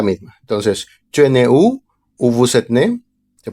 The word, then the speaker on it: aux: Y como es plural, pues utilizamos AUX que se pronuncia O. Y como aquí no hay ninguna palabra que empiece con vocal, pues no se hace liaison y suena nada más O.